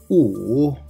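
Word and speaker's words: 五: Wu, wu, there is third tone. So we need to pronounce like wu.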